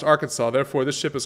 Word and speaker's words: Arkansas: tell you why uh so arkansas is pronounced the way the native wait arkansas is pronounced the way that the french pronounce the native word or the native name and kansas is like the english version of it basically so it just depended